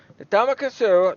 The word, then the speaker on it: Ndamukong Suh: Ndamukong Suh, thank you.